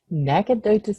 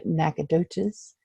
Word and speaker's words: Nacogdoches: And she lives in some place in Texas that I'm sure she's going to pronounce for me. Nacogdoches, Texas.